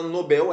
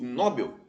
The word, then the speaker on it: Nobel: mesmo exatamente por exemplo a palavra Nobel Nobel prêmio Nobel né S Nobel é oxítona se eu pronuncio Nobel eu estou transformando essa palavra que é oxítona em uma paroxítona Isso é uma silabada é um erro de prosódia chamado silabada então a